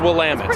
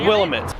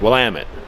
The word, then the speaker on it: Willamette: It's pronounced Willamette. Willamette? Not Willamette. Willamette.